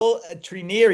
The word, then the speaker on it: Treneer: Treneer. He's the president. Am I pronouncing that right?